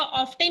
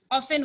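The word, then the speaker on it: often: एक करेक्शन मेरा है अंशु आपके लिए एक मेरा करेक्शन है कि आपने एक जगह ऑफ्टन यूज किया है, जबकि प्रोनाउंसिएशन में टी साइलेंट होता है, ऑफन होता है।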